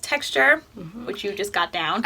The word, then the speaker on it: TXTR: new line txt our it's pronounced texture which you just got